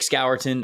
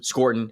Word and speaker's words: Scourton: Yeah, I have Nick Scourton above him. Scorton, excuse me.